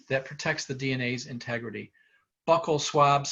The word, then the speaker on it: buccal: Buccal swabs, some people pronounce it buccal swabs, it's buccal swabs.